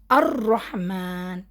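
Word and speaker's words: الرحمن: Direct अलिफ के बाद र पढ़ लिए। इधर भी क्योंकि शद्दा है ना हमने जॉइन कर लिए। अर रहमान लाम नहीं आया।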